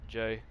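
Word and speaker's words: Jai: Jay. Bro, his name is spelled J-A-I and it's pronounced J.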